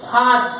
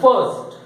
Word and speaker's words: first: एक फर्स्ट, या इसको बहुत लोग फास्ट कहते हैं, फास्ट पर्सन, ऐसा नहीं है। फास्ट बोले तो FAST, देखो साउंड कितना अलग है।